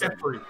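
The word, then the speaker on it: Geoffrey: Okay, so Joffrey or whatever, that's a real name, like the way it's written and stuff, and like, you know, the real world. Yeah, It's pronounced Jeffrey.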